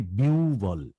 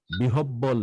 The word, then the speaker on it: বিহ্বল: হ্যাঁ, একইভাবে বিউবল বিহব্বল না, বিউবল। কি বলবো? বিউবল বিউবল।